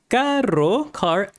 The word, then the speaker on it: caro: So you need to learn to roll the RO expensive car. So that's the challenge right there. Rolling the R in this one.